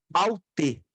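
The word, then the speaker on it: αὕτη: E a pronúncia é aute. Aute. Aí sim é aute.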